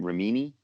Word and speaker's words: Remini: Remini.